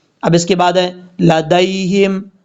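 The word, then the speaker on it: لديهم: اس کے بعد ہے لدیہم، دال کے بعد جو یا ہے اس یا کو لمبا نہیں کریں گے، دال یا زبر دئی، لدیہم، یہ یا لین ہے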